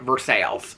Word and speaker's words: Versailles: Okay, which is so funny because here in southern Indiana, there's a town that is spelled Versailles, but they pronounce it Versailles, okay?